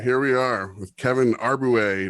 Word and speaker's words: Arbouet: All right, here we are with Kevin Arbouet. Did I say that right? You did say it right. Pretty right. Pretty right. How do you say it? No, it's Arbouet. Arbouet.